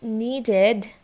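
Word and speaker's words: needed: এটা নিডেড, ইডি তার আগে ডি আছে তো উচ্চারণ কী হবে, ইডির জায়গায় আইডি, সো ইট ইজ নিডেড।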